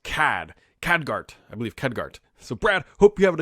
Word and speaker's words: Khadgar: time pronouncing names I absolutely do it is pronounced CAD cadgart I believe khadgar so Brad hope you're having a good holiday